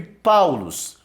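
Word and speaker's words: Παῦλος: Então você tem aqui Paulos. Então em ditongo, o Y tem som de U, tá?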